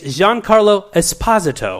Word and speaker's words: Giancarlo Esposito: I'm here to tell you, he also mispronounces his fucking name. How do we say it? It's Giancarlo Esposito.